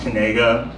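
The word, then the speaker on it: Knigga: g g a and he insists pronounced kega which good on him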